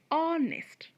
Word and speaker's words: honest: three or nest so here h is silent we would read it ah honest number four him h-y-m-n